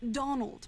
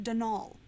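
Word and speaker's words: Dónal: that was the caretaker dnal Delaney not Donald mind you there's no D at the end so it's pronounced dnal that's the way you're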